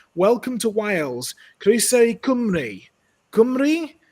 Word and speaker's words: Cymru: Cymru? I mean, it starts with a G there. Cymru? Cymru? Well, that's the way that the Welsh say it.